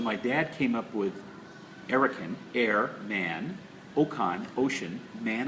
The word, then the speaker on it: Erokan: And his brother decided to be man of the arts, which amazingly enough is pronounced Erokan.